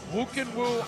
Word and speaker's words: Khuukhenkhuu: one is a tongue-twister doesn't look like you can woo it all but that's how you pronounce it who can woo ama tution fighting for